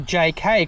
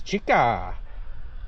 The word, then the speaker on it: Zeekr: to protect with the Zika 7X on there. Before it's a JK cuz that's how you pronounce Zika in Chinese. Jika Ja 7X.